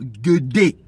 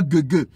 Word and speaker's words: Guédé: communiquer avec des morts, ils invoquent d'abord Guédé, pas Guégué. Donc, Guédé, ça s'écrit G-U-E accent aigu, D-E accent aigu.